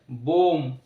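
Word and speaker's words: bomb: না কিন্তু উচ্চারণটা হবে বোম কম চিরণী যেটা কম অর্থাৎ শেষের বি সাইলেন্ট এম এর পরে be silent T এইচ ইউ এমবি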